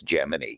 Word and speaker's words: Gemini: the way, doesn't really exist, with establishing the pronunciation as Gemini.